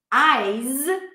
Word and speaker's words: eyes: Ice has the I diphthong and then an S sound, ice. Eyes, my eyes begin the same way, eyes. The Z sound is the pair of the S, the consonant pair of the S. Only the Z is voiced, so we activate the vocal cords, z, z, z, versus s, s, s.